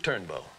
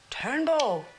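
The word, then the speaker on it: Durnbeau: Not duka one Duke turnbow turnbow how would you spell that d-u-r-n-b-e-a-u it's French mine's Rosie Rosie a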